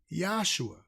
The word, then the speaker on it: Yahshua: They wouldn't have called him Jesus because it was no letter J. So how would they been calling him Jesus? They would have been calling him Yahshua. The name was spelled with a yod, which has the Y sound.